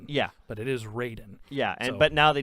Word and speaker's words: Raiden: en but it was still supposed to be pronounced Raiden yeah but it is Raiden yeah and but now they changed it and